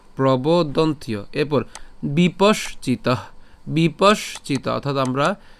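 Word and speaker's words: প্রবদন্ত্য: এবার এখানে যে জফলা আছে, আমরা জানি যে জফলার উচ্চারণ কার মতো হয়? ইয়র মতো হয়।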